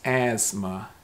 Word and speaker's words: asthma: as you can see this has a totally different sound the sth sound it's asthma so the t in this word is really silent it's almost like asma asthma it's not asthma asthma